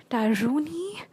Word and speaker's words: tarot: like TXT me on Tarotni at Tarotni on Instagram, TAROTNI, not Tarotni. I don't know why people don't know that T in tarot is silent, but anyway, it's okay.